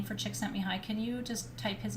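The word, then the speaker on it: Csikszentmihalyi: was like i need to know how to pronounce his name because i was introducing him and they they kept saying chick sent me hi and i'm like okay chick sent me hi anyway that's me holly and he's an incredible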